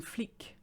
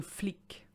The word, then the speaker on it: flic: for a cop or a policeman it's an flick so flick so you notice the previous one was freak